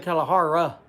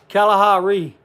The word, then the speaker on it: Kalahari: Did I pronounce that right? Yusef, Kalahari? Kalahari. Kalahari. Kalahari. Kalahari. I said Kalahara instead of Ru.